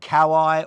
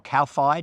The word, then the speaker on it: Kōwhai: The New Zealand Kōwhai or Kōwhai, depending on which pronunciation you accept.